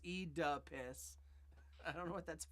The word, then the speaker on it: Oedipus: No, V8 says it's pronounced E-duh-piss.